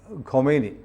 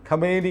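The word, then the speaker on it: خمینی: അങ്ങനെയാണ് നമ്മുടെ ഈ അയത്തുള്ള ഖൊമൈനി. ഇത് ആളുകൾക്കൊരു വലിയ സംശയമുണ്ട് സാറേ, അതൊരു ക്ലാരിഫൈ ചെയ്തിട്ട് പറയാം. നമ്മൾ ഈ ഖൊമൈനി എന്നൊക്കെ പറയുന്നതൊക്കെ തമ്മിൽ ചില വ്യത്യാസങ്ങളുണ്ട്. നമുക്കിത് പരിചയമുള്ള പേരുകളല്ലോ. യഥാർത്ഥത്തിൽ ഈ ഖമേനി ഇപ്പോഴത്തെ ആള് ഖമനേയി ആണ് അല്ലേ?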